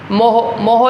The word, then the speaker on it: MHO: अगर ओहम पे इनवर्स नहीं लिखना तो इसके स्पेलिंग को इनवर्स कर दो, मतलब फर्स्टली M फिर H फिर O, मोहो लिख दो, इसको MHO लिख दो।